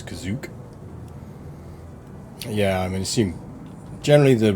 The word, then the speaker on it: Kashyyyk: Fun fact, the canonical pronunciation of the Wookiee home, the first pronunciation of the Wookiee homeworld is Kazook.